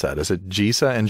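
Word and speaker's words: Gisa: pronounce that is it jesa and Geral or Giza and Geral I would go for the latter believe it Giza and Geral so it's the soft and hard G and respectively so the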